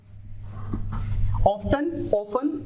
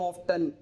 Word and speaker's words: often: ऑफ्टन काफी पहले यूज होता था, OFTEN, लेकिन धीरे धीरे टी साइलेंट हो गया, उसे ऑफन बोलने लगे, बट इट डजंट मीन कि ये वाला प्रोनाउंसिएशन गलत है।